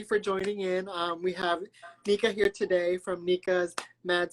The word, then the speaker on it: Nika: pronounce it Nika? Yeah. Hi, Nika.